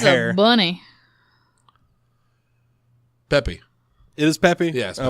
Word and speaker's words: Peppy: It's not Pepe. It's Peppy. Like Peppy.